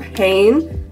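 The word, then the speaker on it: Hanni: heart stoer leaves and this little postcard of Hayne that's how she pronounces her name and interview so that's how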